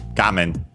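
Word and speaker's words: 画面: yeah, in this case it's actually accented on the first syllable, on the gamen.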